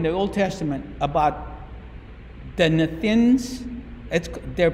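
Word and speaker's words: Nethinim: There's a wonderful story in the Old Testament about the Nethins. They're pronounced Nethin.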